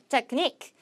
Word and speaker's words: technique: 자, 테크라는 요 부분에 강세가 들어가는 경우는 의외로 거의 없어요. 뭐 technical 이제 형용사로 쓸 때 빼고는요. technique.